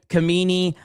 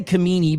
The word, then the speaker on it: Khamenei: See, like some people are saying ham kamini. I don't know. I just say the ayatollah. It's just like Qatar and Cutter. I don't know how the to pronounce this Okay, I say kamini because that's what it looks like it says to me.